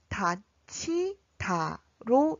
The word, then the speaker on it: 닫히다: 그래서 결론적으로 닷, 히, 다의 발음은 닷, 치, 다로 읽으셔야 합니다.